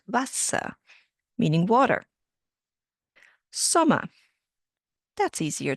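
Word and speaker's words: Wasser: The W sounds like a V and the E R becomes a H at the end. Vasa, meaning water.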